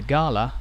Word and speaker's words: gala: The gala, or gala as the word has been pronounced by many locals, began in 1871, when between 2,000 and 3,000 people attended the festival.